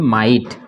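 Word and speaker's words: might: पे मिटे ठीक है तो ग यहां भी साइलेंट है और इसको क्या पढ़ेंगे माइट आई की मात्रा बनेगी ठीक है ना यहां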